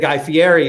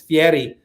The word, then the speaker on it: Fieri: he he said it's i said guy fieri and he said it's fiery and we weren't going